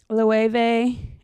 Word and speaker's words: Loewe: Loewe. It's definitely Loewe. How do you go about pronouncing this name? It's not Loewe, but rather Loewe. It's Ve. Loewe.